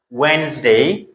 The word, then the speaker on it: Wednesday: Wednesday. So D is what? Silent.